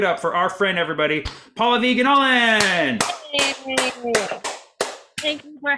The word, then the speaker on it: Pallavi: if it's Pallavi, or Paula V, or none of the above. That's what I thought. It's Pallavi. Pallavi. Yeah. So the emphasis is on the first syllable, and it's like an.